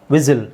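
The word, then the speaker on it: whistle: ರೆಸ್ಟಲ್ ಅಂತ ಹೇಳಲ್ಲ ರೆಸಲ್ ವಿಸಿಲ್ ವಿಸಿಲ್ ಹೊಡಿತೀವಲ್ಲ ವಿಸಿಲ್ ಅಲ್ಲೂ ಟೀ ಸೈಲೆಂಟ್ ಆಗಿರುತ್ತೆ ಕಾಸಲ್ ಕಾಸಲ್ ಕಾಸ್ಟಲ್ ಅಂತ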